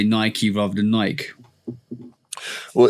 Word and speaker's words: Nike: Like there's a bunch of IKE words in the English language, and they're all pronounced Ike, like, Mike, Tyke. You know what I'm saying? But Nike is the one difference that I've always known.